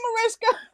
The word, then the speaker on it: Mariska: girl like we homies now i'm like hey marisha and she's like i love you you know how to pronounce my name right see i'm the type